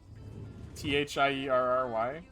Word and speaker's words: Thierry: was on the cover how do you pronounce that name theory t-h-i-e-r-r-y thierry it's jerry henry it's french oh black cherry sounds